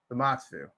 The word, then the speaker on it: Zamasu: to his fuse form like him and Z zamasu that's how you say his name gez I